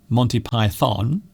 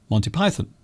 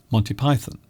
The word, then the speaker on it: Monty Python: It isn't Monty Python, it's Monty Python. Monty Python, not Monty Python. They are overpronouncing Python.